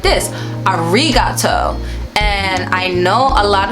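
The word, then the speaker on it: ありがとう: great example because literally if you think about the r as an l you could pronounce it right arigato which is arigato right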